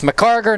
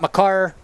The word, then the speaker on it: McCarter: entire game so uh it's mccarter not my car a little bit tough